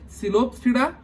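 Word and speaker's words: Psilopsida: आप इसको पिलोप्सिडा और आपको पिटेरोप्सिडा स्पेलिंग के लिए पढ़ सकते हैं, लेकिन आप जब प्रोनाउंस करेंगे तो सिलोप्सिडा, लाइकोप्सिडा, स्फेनोप्सिडा और टेरोस्पिडा, इसको ऐसे प्रोनाउंस करना है।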